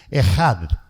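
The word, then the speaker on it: אחד: pero aquí se usa una palabra que se pronuncia ejad Cómo se pronuncia Cómo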